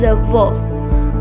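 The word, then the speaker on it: avó: Grandmother is a V. A V. The O is open like you are surprised. A V. A VO.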